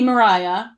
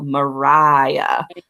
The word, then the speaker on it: Maria: bubble yep little baby Mariah with which is great what'd you put in the pronunciation because it's spelled in a way that most of us would traditionally say Maria that's Renee RI a